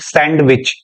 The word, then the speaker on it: सैंडविच: पढ़ के देखिए सर सैंडविच याद रखना इसको सैंडविच नहीं कहते डी साइलेंट है सैंडविच सैंडविच सैंडविच आइए